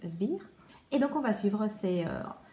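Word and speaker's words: Weyer: Et donc on va suivre ce personnage de Jean Weir, Jean Weir plutôt, étant donné qu'on est en Allemagne, donc à mon avis ça se prononce plus Weir.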